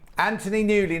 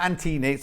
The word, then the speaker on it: Anthony Newley: Anthony Newley, not Antini.